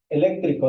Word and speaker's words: eléctrico: Eléctrico, ¿dónde se acentúa? En la segunda E.